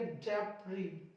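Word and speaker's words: debris: इसमें भी देखो गाइस ये जो स्टार लगा के रखा है, लास्ट में आने वाला जो एस है वो साइलेंट रहेगा। इसको पढ़ेंगे डेप्री, डेप्री।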